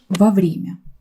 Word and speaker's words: вовремя: Не путайте это слово с другим очень похожим ВОВРЕМЯ. Вовремя это одно слово, а здесь во время. Вы видите, что ударение другое, и значение другое.